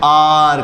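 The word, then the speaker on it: hour: व्यक्त करूंगा तो देखिए यहाँ पर केवल जो साउंड है वो आर का आएगा, आर, क्योंकि इसमें ना तो हम एच को प्रोनाउंस करते हैं, ना तो ओ को प्रोनाउंस करते हैं, ना यू को प्रोनाउंस, केवल आर, एन आर।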